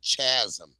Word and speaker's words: chasm: What the hell is Just because it got a H in there, The H is is silent.